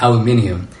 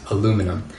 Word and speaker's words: aluminium: I use words like rubbish, and I still pronounce aluminium the right way as aluminium and not aluminum.